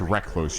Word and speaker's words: recluse: It's pronounced recluse. You put the emphasis on the re.